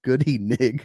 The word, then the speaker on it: Goodyng: The correct pronunciation is Goody Nig.